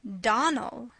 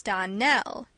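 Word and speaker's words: Donnell: Clarice Elmyra told me that you pronounced our name Donald. Now, Miss Shirley, the correct pronunciation of our name is Darnell. Accent on the last syllable.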